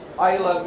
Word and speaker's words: Islay: me, Simon, is it Islay, is it Islay? Just remember, Islay means island, and you've got the pronunciation of the region.